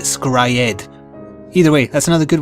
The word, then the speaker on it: Scryed: And there's also another short anime I really enjoyed called Scried, although they pronounced it Scryed.